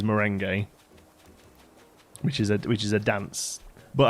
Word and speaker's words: merengue: It's not meringue. It's merengue. It's not. No, that's meringue you're thinking of, isn't it? Is there a dessert called merengue? No, it's spelt differently. You're thinking of meringue. Yeah, with an I. That's meringue is the dessert. The fluffy white dessert thing is meringue. This word here is merengue, which is a dance.